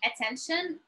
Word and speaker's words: attention: And also mean like pay attention, and you know, like it's very close. You can see like when to use it. So we pronounce it attention.